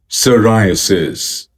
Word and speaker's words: psoriasis: psoriasis psoriasis psoriasis sir rye uh sis sir rye uh sis sir rye uh sis psoriasis psoriasis psoriasis